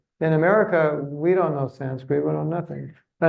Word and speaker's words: Sanskrit: I tell people, you know, my Sanskrit pronunciation is pretty good, but I pronounce the word Sanskrit wrong because it's Sanskrit. It's not Sanskrit. Sanskrit is the American.